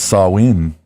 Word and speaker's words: Samhain: back as far as pronounce saw ween okay I'm just saying